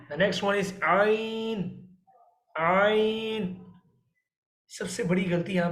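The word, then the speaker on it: عين: The both letter we can pronounce by the throat, but ain is the part of the middle part of throat.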